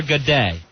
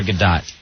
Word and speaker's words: Godot: time, but I won't know because I can't pronounce it. All right, so say it again to me. Waiting for a Godet. No, that can't be right. I think I'm saying it wrong. It's Godot.